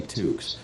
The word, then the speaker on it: Tooks: knew me called me tooks my constant refrain was rhymes with kooks not cooks it helped make it